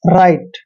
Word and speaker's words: rite: Next word देखिए RITE, आर का उच्चारण हमेशा रे करते हैं और ITE को आप क्या पढ़ रहे हैं, आइट, मतलब राइट।